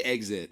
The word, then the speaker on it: exit: exit exit i say exit normally i don't know why i said exit if i did how do you say it man exit exit right like there's a z in there exit yeah yeah exactly